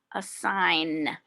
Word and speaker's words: assign: every lesson a sign a sign the g is the silent letter so again silent letters